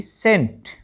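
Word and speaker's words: scent: यू एल E schedule in सभी में एस और सी इकट्ठा है और वहां पर आपने सी का उच्चारण नहीं करना है। केवल एस से ही अपने शब्द का जो है उच्चारण शुरू करना है।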